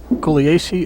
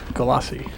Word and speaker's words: Gulyassy: The score right now is uh Grady Matthews eight and Mike Golierce is six. Glossi. Galassi.